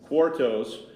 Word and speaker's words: quartos: Quartos.